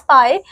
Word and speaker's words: pi: Which is pronounced as pi.